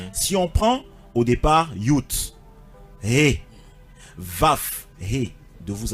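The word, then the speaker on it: Yod: Ça vient de Yot. Yot, et ça se prononce Yut.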